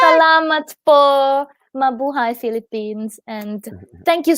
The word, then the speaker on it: salamat: Salamat? Is that Yeah, yeah. thank Yes, you, right? correct. Salamat po.